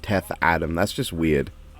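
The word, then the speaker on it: Teth-Adam: like when it's when it's spelled and pronounced teth Adam that's just weird like it's not what's up it's not wrong it is teth Adam but teth attempt it sounds so much more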